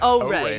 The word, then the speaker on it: Ori: Ori? And that was a first look at O-Ray. O-Ray, by the way, is how that's pronounced, if you were wondering.